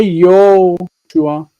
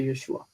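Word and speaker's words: ישוע: And or plus Hoshea, whatever you could say, whatever it is, or you could say Yoshua, Yo. You're not supposed to say. You're supposed to say Yeshua, but let's say Natan, Yonatan, Yonatan.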